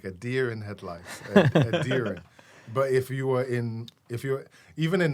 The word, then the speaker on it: Edirin: My name is Edirin. Edirin, like a deer in headlights. Another thing I've learned ever being here in America for a deer good amount of time, like a deer in headlights. Edirin.